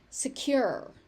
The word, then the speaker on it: secure: Secure. Secure. You may also hear secure. Either pronunciation is interchangeable. My natural instinct is to say secure and not secure.